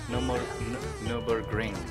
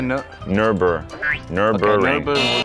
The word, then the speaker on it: Nürburgring: So you need to get the Nürburgring. Nürburgring. You need to get Nürburgring. The G. So a Nürburgring. No, you're not saying the G.